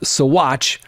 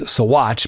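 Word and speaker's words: Saguache: Now, remember that ladies and gentlemen, it's P pronounced Satch even though I've lived here in the state of Colorado.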